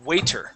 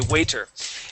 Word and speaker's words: waiter: have the word uh waiter right wait if uh okay waiter now uh sometimes in english our t's our t's sound like d's okay so listen how